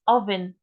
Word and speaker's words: oven: So you know it's pronounced as oven. وليس O.